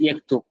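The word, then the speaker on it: يكتب: Example यक्तुब यानी कि ही rights would be pronounced as यक्तुब in modern standard, यानी कि फॉर्मल अरेबिक।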